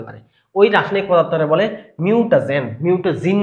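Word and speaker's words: mutagen: পারে তাদেরকে বলা হয় মিউটাজেন ভুলেও মিউটা জিন বলা যাবে না মিউটা জিন না মিউটা জেন দেখো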